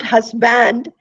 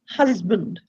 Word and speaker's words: husband: Now it is not hus and band, right? So it's not husband, it ends up being husband, right? It is husband. The S is also pronounced with a Z.